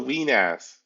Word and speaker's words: Wenas: Yes, it's called the Weenass.